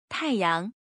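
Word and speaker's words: 太阳: education how do you say son in Chinese tae-young tae-young try to pronounce the word tae-young repeat the word tae-young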